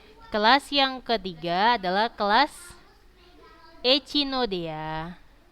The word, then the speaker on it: Echinoidea: Kelas yang ketiga adalah kelas Echinodea. Kalau kalian kuliah nggak gitu bacanya ya. Echinoidea. Nah, gitu tulisannya, tapi kalau bacanya Echinode.